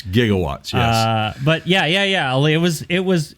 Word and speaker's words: gigawatts: He just needed a nuclear reaction to generate he said it wrong. It was 1.21 gigawatts. He said gigawatts, right? Right. It's gigawatts.